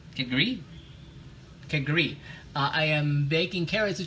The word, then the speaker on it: kedgeree: But I got the accent on the up on the end. Kedgeree.